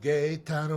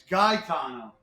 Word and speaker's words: Gaetano: Every time I send you an email, every time I send you an email, it's Gae Tano. Hey, Gaetano. It's not gay. Gaetano. Gaetano.